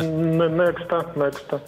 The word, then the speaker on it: NEXTA: Как правильно читается? Нехта или Некста? Некста. Некста правильно читаете?